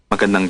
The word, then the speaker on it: Magandang: So what we're doing is we're taking maganda, which is beautiful, and we add a little nung sound on the end.